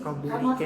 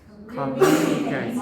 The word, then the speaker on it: communicate: after recording five communicate communicate time communicate okay so where is the stress the second seable communicate so the